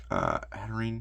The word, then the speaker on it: Hatterene: Hatterene. I think it's always been Hatterene. I've always pronounced it Hatterene.